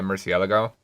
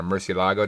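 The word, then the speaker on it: Murciélago: I mean, the V12 Grand Tour, your other one, I guess, would kind of be a Murcielago, or Murcielago, depending on how you want to pronounce it.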